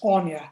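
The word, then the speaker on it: Aoife: uh thanks paula um my first name is pronounced anya which is impossible for anyone who's not irish so don't worry thank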